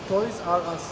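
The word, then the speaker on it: ToysRUs: Nasıl okunuyor abi burası? Toys Aras.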